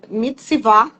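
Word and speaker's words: מצוה: eh o no original do hebraico a palavra pronuncia mitsvá achei tão lindo ah é direcionar apontar comandar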